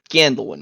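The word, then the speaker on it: Gandelwyn: darts he name name gandel one spell that g a d slow slower g a n d e l w y n candle one exactly as I say what this problem all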